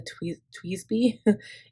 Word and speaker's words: TWSBI: know how to say this, but it's a Tweezby.